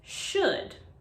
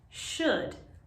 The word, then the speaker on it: should: words end in o-u-l-d it's important to remember that here the l is silent for example we say should should not should should should